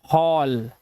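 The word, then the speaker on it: hall: एच A double L. इसे क्या पढ़ते हैं? इसे पढ़ते हैं हॉल। अब यहां पर देखो यहां पे आवाज क्या आ रही है? आवाज आ रही है औ की। ओ ओ की आवाज।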